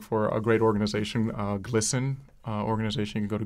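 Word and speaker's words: GLSEN: a great organization uh glisten uh organization you can go to glen. org um it's G LS n um took me a long time get used to the right pronunciation for that acronym but uh but glisten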